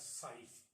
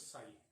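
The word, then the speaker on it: ψ: It is said as psi. The pronunciation it is psi. It is pronunciated as psi.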